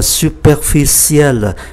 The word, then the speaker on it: superficiel: danh từ là superficie thì tính từ là superficiel, ciel, và phát âm là ciel.